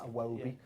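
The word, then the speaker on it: Iwobi: game 2-1 to Watford aobi it was you have to say it like that aobi so tell us about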